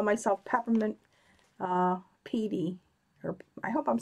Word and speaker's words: Peidi: That's why I call myself Peppermint Petey. Or I hope I'm saying that right. Am I saying it right? Oh, it rhymes with Heidi, so it's Piety. Okay. Piety.